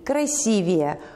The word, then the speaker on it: красивее: Место ударения сохраняется как в начальной форме в таких словах, например, «красивый» – «красивее», «громкий» – «громче», «долгий» – «дольше».